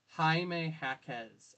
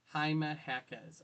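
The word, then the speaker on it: Jaime Jaquez: You know, Haime Hackz. Okay. Haime Hackz.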